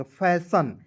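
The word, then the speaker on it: fashion: आई ओ एन आया तो उसका उच्चारण सन यहां पे सन के रूप में यहां पे करेंगे। फैशन और कहीं-कहीं क्या के रूप में करना है दोस्तों?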